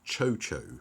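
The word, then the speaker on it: Tcho-Tcho: in their pink gloriousness are actually pronounced chocho so the tea's are silent in addition I think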